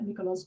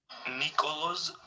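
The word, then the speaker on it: Nikoloz: is the tennis player Nikolos Basilashvili. This is his own pronunciation of his name. Nikolos Basilashvili. Nikolos Basilashvili. So that's an ejective in Georgian. You can hear the ejective "r" in Georgian.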